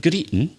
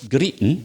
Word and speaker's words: greeting: that theme stop your greeting stop your greeting greeting g-r-e-e-t-i-n-g but again we'd miss out the g stop you're crying your